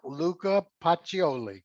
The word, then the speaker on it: Luca Pacioli: of luca pacioli is that the way you pronounce it yep luca pacioli yep who in the year 1494 published the